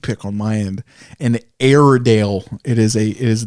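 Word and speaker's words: Airedale: An Aidale. It is a It is the King of Terriers. It it's it's like LR. It's not actually air, but it's pronounced air.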